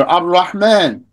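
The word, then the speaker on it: الرحمن: Ar-Rahman. How do you read that? You read that without pronouncing the lam.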